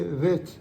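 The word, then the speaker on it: ב: bête et le vê avec le point bête c'est bête s point c'est vê c'est un V qui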